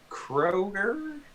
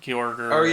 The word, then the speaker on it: Kyogre: is Kroger, is it or Uh, Gross? Kygor or something like that. I don't Oh Kyorger. yeah, I don't. Kyogre.